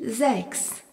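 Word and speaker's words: sechs: ou funf utrema f le nombre 6 se dit zex s e c h s remarquons que le s en début de mot et suivi d'une voyelle se prononce z.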